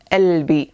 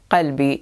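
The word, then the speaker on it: قلبي: as well as Jordan, they do not pronounce the qaf. They replace it with nothing. So if you listen to Arabic songs, you might already have heard albi, my heart, which stands for qalbi in modern standard Arabic.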